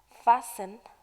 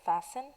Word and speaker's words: fasten: all right that's convinced fastened this word fasten the T is silent fasten it means to